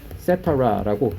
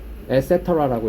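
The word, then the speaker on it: et cetera: 네, ETC 점 이렇게 쓰면은 이것도 기타 등등인데 요거는 원어로 etcetera라고 라틴어예요. etc. 그래서 나중에 이런 거 나오면 ETC 이렇게 읽으면 없어 보이잖아. etcetera라고 읽으시면 돼요.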